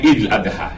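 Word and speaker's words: عيد الأضحى: Mais souvent on prononce l'Aïd. Oui. Bon, C'est pas la bonne prononciation donc c'est normale. Eid al-Fitr Oui. ou bien Eid al-Adha.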